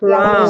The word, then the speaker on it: wrong: Kalau yang Wrong. Wrong. ya oke, wrong ya. Bukan wrong tapi Wrong.